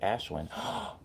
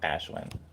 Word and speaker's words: Ashwin: to replicate you, and my name is pronounced with an H in the middle, like Ashwin. Okay, cool. Thank you. Thank you for correcting me. So, Ashwin.